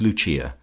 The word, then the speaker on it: Lucia: of her subjects as Lucia, pronounced, of course, in the Italian mode La Lucia, the wife of Lucas.